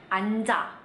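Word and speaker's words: 앉아: Yang dipilih adalah huruf N. Huruf N-nya ya. Jadi kata ini dibacanya anda. Anda. Nah, tapi kalau misalnya dia ketemu sama huruf vokal, dibaca dua-duanya. Anja.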